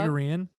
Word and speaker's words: Pythagorean: Pythagorean.